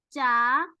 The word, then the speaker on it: 짜: But when you say 자, when you pronounce not well, when you say 자, 자 is go to sleep. So you have to pronounce well, right? Totally different. 자 is go to sleep. 짜 is salty.